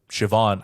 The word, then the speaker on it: Siobhan: you have it because it is spelled with a B but the BH I think is a yes V but yes either